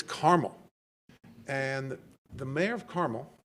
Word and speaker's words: Carmel: a treat Carmel Indiana not Carmel if you pronounce it Carmel they're going to think that you're a smarty pants Californian it's caramel and the mayor of